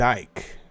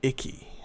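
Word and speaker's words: Icke: His name is David Ike. I used to call him David Icky. I didn't know how to say his name.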